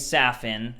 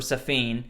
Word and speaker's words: Safin: Like I said, he didn't get a lot of screen time, but his character's name's Safin, or Safin. I think it's pronounced like that.